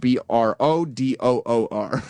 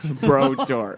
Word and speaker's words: Brodeur: I spelled it Brodoor. Brodeur. That's incorrect, but okay.